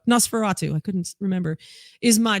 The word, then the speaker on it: Nosferatu: all day every day the movie nostrafatu what does that say no i can't i remember no how do you say that nosferatu there we go nosferatu i couldn't remember is